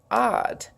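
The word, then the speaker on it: עד: Okay, then eth breaks back and came from a word odd. It's pronounced odd, O-D-D, but it's written A-D, ad, or we would pronounce it ad, but it's pronounced odd in Hebrew, which means eternity, perpetually, a world with no end.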